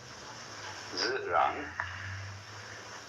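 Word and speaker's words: 自然: in Chinese is called zirang. That which is so, this means so, this means self. Self-so. What is so of itself? This is pronounced zi, this rang.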